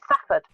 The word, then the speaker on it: Salford: Everybody round here calls it Safford. As if there was no L in there at all.